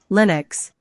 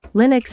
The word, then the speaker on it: Linux: operating system for workstations Linux Linux is pronouncedly new X and it is a